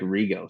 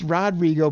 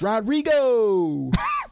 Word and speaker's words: Rodrigo: to make rioo stick no no it's it's Rodrigo but you got to say it like this Rodrigo like you're yelling down the street to ask him if he wants to play ball or something Rodrigo like he